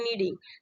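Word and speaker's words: knead: आपका के लगा ना, तो एन से पहले जब भी आपका के आएगा, तो के आपका क्या होगा, साइलेंट होगा, तो नीड होता है।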